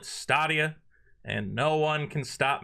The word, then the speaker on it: Stadia: is the Google stadia I know it's pronounced stadia I'm going to call it staia and no one can